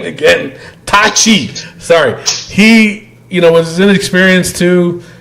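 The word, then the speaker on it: Taichi: Tai Chi.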